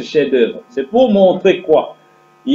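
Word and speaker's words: chef-d'œuvre: la signification du chef-d'oeuvre en français on écrit c'est la chef d'oeuvre ans prononcée chez d'heure c'est pour montrer quoi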